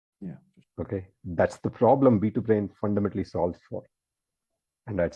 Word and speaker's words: B2Brain: Secondly, thanks for pronouncing it right, B2Brain, right? Folks typically might say B2B brain, but you're pronouncing it perfectly.